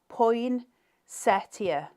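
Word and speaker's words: poinsettia: Jude you're a legend it's pronounced as poin Setia okay you just stay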